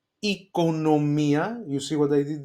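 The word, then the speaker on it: οικονομία: Economia, you see what I did there? Omicron iota together E, and then economia.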